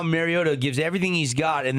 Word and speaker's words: Mariota: I don't know how Mariota gives everything he's got and then and throws it right into the defensive end.